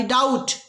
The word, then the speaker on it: doubt: अगला देख लेते हैं आई डाउट, आई डाउट, B silent है, डाउट नहीं है, बी नहीं बोला जाता, बी को चबा लिया जाता, खा लिया जाता।